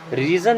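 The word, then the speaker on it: reason: लिए नो मीस नहीं रीजन मीस होता है कारण इस रीन नहीं पढ़ते क्या पढ़ते रीजन क्या पढ़ते हैं रीजन यू आर गेटिंग वड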